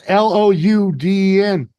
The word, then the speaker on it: Loudon: You put a W in there because it's your Boston accent or your Loudon. Mass accent. There's a U. It's Louden. Loudon. You don't always pronounce things the way they're spelled.